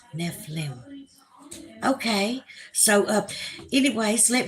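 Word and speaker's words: Nephilim: love everybody lenita Bryant neim nephlim pronounced nef liim okay so uh anyways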